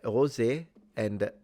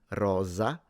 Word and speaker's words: rosa: when it comes to the Italian pronunciation either you pronounce it rosa or you pronounce it rosa um the s in both cases it's a fricative but it is it using your vocal cords or not are they vibrating or not that depends on the region so in